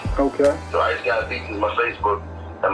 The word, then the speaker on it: Ice Gawd: Oh, it's ICEG, same as God, but it's GAWD. Okay. Ice Gawd. And then Beatz, BEAT with a Z. Okay. So Ice Gawd Beatz is my Facebook.